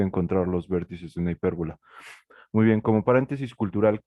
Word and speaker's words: hipérbola: encontrar los vértices de la hipérbola lleva acento en la E, de la hipérbola x por y igual a, ¿qué era bueno?